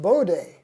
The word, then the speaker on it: Bode: says my kind of guy woohoo oh it's pronounced Bode Johan alert bod he was so alert he